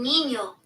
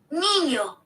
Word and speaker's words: niño: And so, and then also like niño, like the way it's N I and then N with a squiggly mark over it. So that means like you pronounce it a different way versus if it was just a regular N.